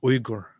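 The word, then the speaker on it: Uygur: in there no huh okay it's actually it's Igor the the proper pronunciation is I'm just saying spell check keeps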